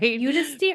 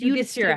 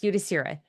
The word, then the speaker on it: Yudhishthira: Yudhisthira. I think it's Yudhishthira. Yudhisthira. Yeah, I'm probably saying it wrong. Yudhishthira. Yes, Yudhishthira. Sorry for all the times I said it wrong up to this point.